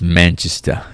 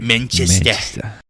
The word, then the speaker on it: Manchester: It's Manchester. You gotta say it correctly. Manchester.